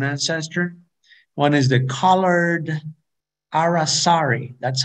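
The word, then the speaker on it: aracari: from a common ancestor one is the colored arasari that's how we we pronounce this name colored arasari and down below another near endemic uh the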